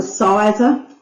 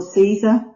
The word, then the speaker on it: Siser: This one's a Sizer or Caesar, depends which country, how you say it, Caesar, Sizer.